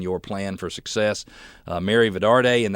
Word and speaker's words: Vidarte: plan for success Mary Vidar day and that's VI da arte i'm pronouncing the t the last T like a D and I apologize for that but it's Mary Vidar de VI dar te she's an author entrepreneur